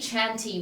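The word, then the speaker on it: chantey: up to that c Chanty one the one that's spelled strange I always thought Shanty was spelled s-h-a-n-t-y but it's C Chanty C h a n t e y fasten anything but I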